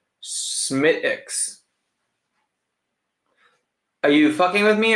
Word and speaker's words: Smithwick's: Smithwick's is pronounced without the W or H. Smithwick's. Are you fucking with me or are you serious? Smittix.